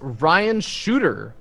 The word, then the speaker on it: Shutter: RTS shutter right yes Ryan shooter uh even though his name is spelled like shutter it's pronounced shooter right on um so